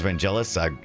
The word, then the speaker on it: Vangelis: Avian confirms Vangelis.